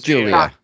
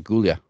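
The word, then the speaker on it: Giulia: just said it as gulia no it's Julia no it's pronounced Julia it's Julia with a G yeah and a bunch of extra letters sounds like she from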